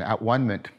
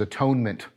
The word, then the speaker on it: atonement: deeply deeply meaningful thing now I'm using that pronunciation at one minute because I've not yet used the Christian pronunciation which is atonement because Christianity put a spin on the notion of at one minute that's not present in neoplatonism but what does that